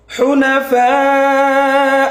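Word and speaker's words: حنفاء: ঠিক আছে, এরপরে হুনা, হা হরফটা গলার মাঝখান থেকে হবে। হুনাফা ওয়া ইউকিমুস সালাহ, এখানে হা হরফটা গলার মাঝখান থেকে উচ্চারণ হবে।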